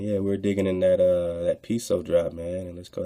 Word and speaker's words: Piso: The Pisos and the Great Secret, the New Testament, the Church, and Christianity were all creations of the Calpurnius Piso, pronounced Peso family.